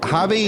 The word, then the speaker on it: Javi: And now I'm going to begin the program with, all right, is it Javi in Athens?